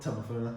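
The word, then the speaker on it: Tameifuna: Tamafuna.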